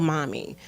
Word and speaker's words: MOMI: Yes, there's one called Mommy. Mommy is really dear to my heart because that's what my son calls me. Okay. But I spell it MOMI, and it's Mothers of Mental Illness.